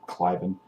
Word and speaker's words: Cliven: That's how you pronounce his name anyway, Cliven.